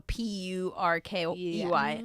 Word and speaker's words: Purkey: Yeah, Perky Breasts as in like turkey breasts, but like spelled with a P. So Purkey.